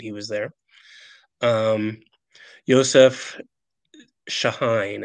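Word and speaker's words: Chahine: was there um Yosef shahine it's pronounced with an sh I found out Joseph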